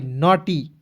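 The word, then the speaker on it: naughty: अ के रूप में जी एच को साइलेंट करेंगे टी को ट लिख दीजिएगा अंतिम में वाई है दोस्तों इसके लिए आपको बड़ी की मात्रा का प्रयोग करेंगे देखेंगे एन ए यू जी एस टी वाई नटी ठीक है उसके बाद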